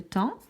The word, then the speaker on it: temps: Le temps, on n'entend ni le P ni le S.